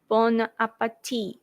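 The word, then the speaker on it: bon appétit: T is silent. Bon appetit.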